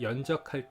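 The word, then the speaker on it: 硯: 근데 이 연적할 때의 바로 적이 바로 이겁니다. 그리고 보면 물방울이 이렇게 똑똑 떨어지죠. 그래서 한번 연적을 한번 써보겠습니다. 연은 조금 어려울 수도 있는데요. 여기 보면 볼견자, 이게 발음이 견인데 연이 되고요.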